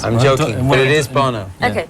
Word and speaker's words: Bono: Und zurück bei Fast Forward und ich bin hier in Dublin mit Bono und Larry Mullen.